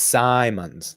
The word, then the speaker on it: Simons: look at the pronunciation is it Simmons or Simons Simons it's Simons like Simon says I was okay I